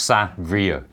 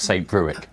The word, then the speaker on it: Saint-Brieuc: It's Saint-Brieuc, not St. Bruick.